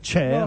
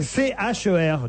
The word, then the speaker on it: Cher: C-H-E-R. Donc voilà. C-H-E-R, oui. Moi je disais bêtement cher, mais bon voilà. Mais c'est pas un mot anglais, cher. C'est pour ça qu'on dit, on prononce à la française.